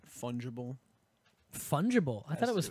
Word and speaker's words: fungible: fungible. I thought Has it was to do fungable No, fungible. is how it's Fungible?